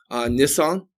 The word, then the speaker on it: Nisan: That there's a lunar New Year that happens in again, forgive me if I mispronounce this, Nisan.